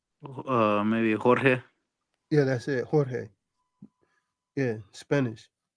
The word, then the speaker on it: Jorge: Jorge. Yeah, Spanish. Jorge. Yeah, the J's are pronounced H.